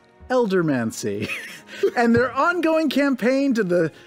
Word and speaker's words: Eldermancy: Eldermancy.